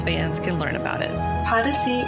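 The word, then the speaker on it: Podyssey: can learn about it policy is odyssey spelled with a p p o d y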